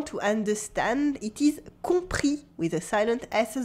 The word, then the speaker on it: compris: à will say that it is j'ai compris de silent s j'ai compris goode watchmen